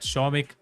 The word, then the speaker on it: Shomik: Shomik? I always spell Somik. I'm so sorry. Apologies for that. Shomik. That makes more sense. Apologies for mispronouncing it.